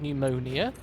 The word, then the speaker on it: pneumonia: Who decided that there would be a silent P at the start of pneumonia?